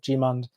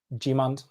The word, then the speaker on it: Gmund: Al has corrected my pronunciation of Gmund. It's pronounced Gmund.